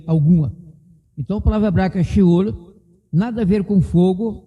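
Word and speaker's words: שאול: Então, no sheol, a palavra é sheol, em hebraico é sheol, pronúncia difícil, em português você fala seol. Estou adaptando então fonética, o certo é em hebraico mesmo, sheol, pois no sheol, para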